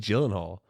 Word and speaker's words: Gyllenhaal: What about Jake Gyllenhaal?